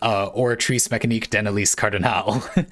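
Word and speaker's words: Oratrice Mécanique d'Analyse Cardinale: I was struggling with the pronunciation, and Bionic you said it's pronounced Oratrice Mécanique d'Annelise Cardinal, which is a meme that will live rent-free in my head until the day I die.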